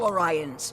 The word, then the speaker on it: Orion: You tried to steal it from us first, and it's pronounced Orion! Enough! When you pillage each other, it hurts all Orions.